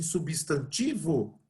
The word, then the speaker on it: substantivo: estão colocando acento em substantivo aqui ó o centro concordam que substantivas a sílaba tônica é o tio substantivo a sílaba tônica